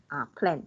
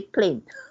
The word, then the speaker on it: plan: Plan. Just now I heard you say plane. You sound like the word aeroplane, the plane, you know. Oh, okay.